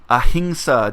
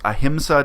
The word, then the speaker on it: ahimsa: If you do a Google search for ahimsa dairy, that other people pronounce ahimsa dairy, it's a Sanskrit word, surprise.